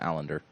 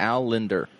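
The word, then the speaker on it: Allinder: a lender sorry i i always call him allender you pronounce things wrong it's that's well established al linder al ender allender what'd you say it was a linder al a-l-l-i-n-d-e-r al in linder al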